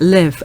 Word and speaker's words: LIV: one that the live I think it's pronounced live I thought it was abbreviation but it's live l i v live okay sign okay uh